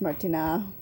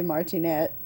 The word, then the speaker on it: Martinat: family davide martinat martinez martina here in america we would just say martinette but i think it was probably more like martina it's how you would really pronounce it so that's who she's